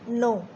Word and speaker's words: know: हम क्या बोलते हैं, नो। KNOT, नॉट। KNIFE, knife. यहाँ पर देखो बच्चों, कहीं पर भी के की साउंड नहीं आई है, यहाँ पर के कैसे रहता है, साइलेंट रहता है, ठीक है।